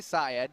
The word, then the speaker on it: Syed: people want to mispronounce, did I say it correctly? I say Syed.